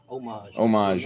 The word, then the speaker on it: homage: Homage, yeah. I say it like the H is silent.